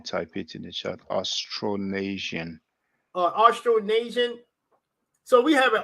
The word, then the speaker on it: Austronesian: Austronesian.